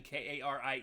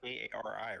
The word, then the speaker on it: Kairi: So I spell it most of the time how Asuka usually says it, which is Kyri. Hurry! No, you got to add a whole bunch of I's.